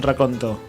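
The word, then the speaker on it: racconto: Atención. Dice recuento. ¿Vieron que raconto 22. significa otra cosa y se escribe con 2C? Digo, todos los días se aprende algo nuevo. Mirá todo el mundo dice mal la palabra. No se dice recuento. Bueno, dice también es raconto. Raconto. Y es con doble C. Raconto. Raconto. Sí. Una palabra italiana.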